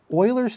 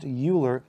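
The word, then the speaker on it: Euler: much cooler but unfortunately it's not pronounced uler it's pronounced Oiler it always makes me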